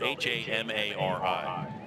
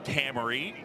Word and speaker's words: Hamari: The reason I have these nuggets on Adam Hammery is because his name is spelled H-A-M-A-R-I.